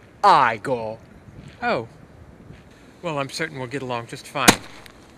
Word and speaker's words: Igor: You must be Igor. Actually, it's pronounced Igor.